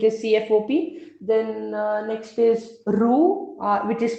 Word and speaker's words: Roux: Then next is ROU, which is spelled as ROUX.